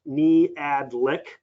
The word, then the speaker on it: Niejadlik: My name's Niejadlik, and if you were wondering, that's pronounced Niejadlik.